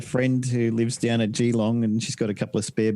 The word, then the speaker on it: Geelong: I got a friend who lives down at Geelong and she's got a couple of spare bedrooms, so she said I can stay there for a couple of months while Nice.